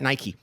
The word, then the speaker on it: Nike: And it's a company that rhymes with the word or pike, but and you know, and they make shoes and apparel. So, we talked to a guy at Nike and he said, "Oh